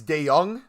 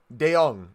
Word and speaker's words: De Jong: It's De Jong. De Jong. So not De Jong. It's De Jong. De Jong. Am I pronouncing that correct now?